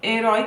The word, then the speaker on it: herói: Porque em herói nós temos o ditongo oi, em uma palavra que é oxítona, né, que tem como sílaba tônica, sílaba mais forte, a última sílaba da palavra.